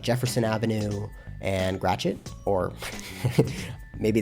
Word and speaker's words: Gratiot: So this is, I believe it's pronounced Gratiot or Gratiot or something like that. Gratiot.